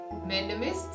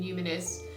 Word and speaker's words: numinous: medical and humanist podcast up until today i have been pronouncing that word madness and i had to look it up before and i was shocked to hear the pronunciation being numinous i had no idea it still sounds wrong to me if you haven't